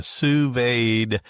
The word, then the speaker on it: sous vide: It's um from what I understand, it's supposed to be sued and you got to have that D kind of pronounced in there.